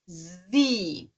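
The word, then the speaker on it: Sie: i e então também é como se fossem dois is e o e desaparece Z tá bom outro caso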